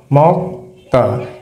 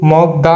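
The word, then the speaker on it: 먹다: ধ্বনি উচ্চারণ করব যেমন ক ধ্বনি এখানে উচ্চারণ করব মক মক্তা এটা কিন্তু মগদা হবে না এটা বাচ্চিমের কিছু রুলস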